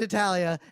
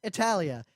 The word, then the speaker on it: Hetalia: l i a okay cuz the way you say it it just sounds like you're saying Italia Italia all right whatever you know hatar Italia Italia because Italy but